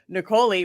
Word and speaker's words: Niccoli: M, Niccoli, which rhymes with cannoli.